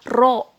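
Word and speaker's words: ρ: itu lambangnya ini nih kayak P tapi bukan p ya dibacanya ro Oke bacanya ro yang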